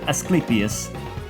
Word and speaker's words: Asclepius: A doctor once believed to descend from Asclepius. Asclepius, yeah. Apparently I was pronouncing that mostly correct all along.